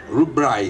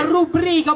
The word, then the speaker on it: rubrica: Rubraiga. Pura che? Rubraiga. Imbecille, non si pronuncia, si legge come scritta, rubrica, ovvero Argentina telefonica qui interno.